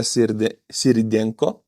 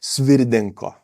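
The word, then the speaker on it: Svyrydenko: I am Yulia Sirdenko. Oh, sorry, I have to pronounce it right. Sorry. Svirdenko. I pronounced it very wrong previously.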